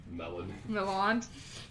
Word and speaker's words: Melon: Milan. Melon. It's spelled like melon, but he pronounces it Milan.